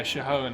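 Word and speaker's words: Shihōin: Yeah, Shihoan, I think it's supposed to be pronounced.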